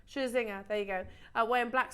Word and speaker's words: Scherzinger: Scherzinger, there you go.